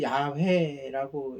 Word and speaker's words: 야훼: 단어의 원본은 모음이 없어요 이스라엘 고대어는 모음이 없었어요 그래서 보통 읽기를 야외라고 읽어요 우리나라 말로 번역해서 여호와라고